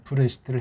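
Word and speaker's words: בראשית: 지난번에 여기 있는 모음보들은 또 뭐냐 그렇게 해서 이제 브레시트를 했다고 치고 발음이 그렇습니다. 브레시트 그렇게 발음하면 돼요.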